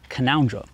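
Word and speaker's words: Canowindra: south wales called kanawindra now that's how it's spelled right but things in australia are always unique the terrain the animals the land the accent and so the locals actually call it canondra it's a nice little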